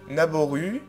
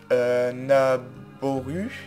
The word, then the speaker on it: Naboru: Alors il y a plusieurs façons de prononcer. Naboru, hein, parce que le 2O ça peut faire bou. Naboru, Naboru, Naboru, enfin il y a plein de façons de la prononcer.